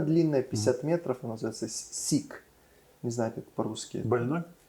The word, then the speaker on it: Siq: То есть расщелина длинная, 50 метров, она называется сик. Не знаю, как по-русски. Больной? Нет, По-английски. по-английски оно пишется SIQ. Сик. Сик.